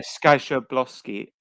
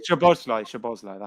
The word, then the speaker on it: Szoboszlai: Oh yeah, Skaboszlai. Or else, how do you say it? Skaboszlai. Szoboszlai.